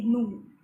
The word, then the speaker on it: gnu: So pair David Hare বা আরেকটা অ্যানিমেলের নাম দেওয়া হয়েছে, নাম আছে হোয়াইট টেইল নু, GNU লেখা আছে, you will pronounce it অ্যাজ নু, জি ইজ সাইলেন্ট, হোয়াইট টেইলড নু, সাদা লেজ এই অ্যানিমেলের।